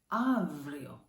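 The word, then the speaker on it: αύριο: This word, avrio, avrio, not avrio, not avrio, avrio.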